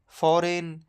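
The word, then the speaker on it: foreign: हमेशा साइलेंट रहता है जैसे कि साइन डिजाइन फॉरेन अलाइन इन सब में जी के बाद एन है तो जी साइलेंट होगा वैसे ही हम पढ़ेंगे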